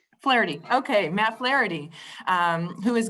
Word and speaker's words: Flaherty: How do you pronounce that, Matt? I'm sorry. Yeah, that's pretty good. Flaherty. Flaherty.